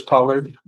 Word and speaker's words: Pollard: Pollard. He's here. Two cases. You're Mr. Pollard? Yes, sir. Pollard? Yes, sir. The accent is on the first syllable.